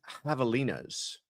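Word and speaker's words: javelinas: Well, first of all, I am sure that you are referring to the Havalas, as I've been told. I had butchered the pronunciation earlier.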